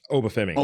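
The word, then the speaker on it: Oba Femi: Obafemi. You got. I just didn't want to mispronounce it.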